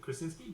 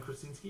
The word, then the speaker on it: Krasinski: If they have in fact cast Krasinski, is it Krasinski? John Yep. Krasinski, is that how you say it?